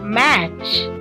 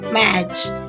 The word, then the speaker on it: match: Match. Again T is silent, so match.